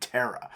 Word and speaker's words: Terah: If you'll look in Genesis 11, verse 26, we see that Abraham's dad was named Terah. Also, that's spelled Tarak in Chronicles, or I guess technically it's Hebrew, so I should say Tarak, I suppose.